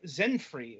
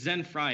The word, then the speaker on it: Zenfri: joining us this week is Cory king of Zen free if I'm pronouncing that correctly you're not but we know it's we know the people don't pronounce it correctly yeah then it's Zen FRA it's actually it's a company that I founded